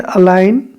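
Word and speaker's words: align: ठीक है ठीक है अ लाइन जी आ रहा है लेकिन जी बोला नहीं जा रहा है अल्लाह यौगिक आप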